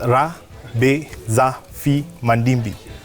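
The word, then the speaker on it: Rabezafimandimby: I can say it in two syllables. Rabezafi Mandimbi.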